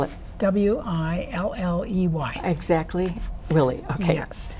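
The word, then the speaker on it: Willey: We had lots of fun with the sisters in Willie, Iowa. Was this? Willie. It's a town of about 200 some people. I don't understand Willie. Spell it. W-I-L-L-E-Y. Exactly. Willie.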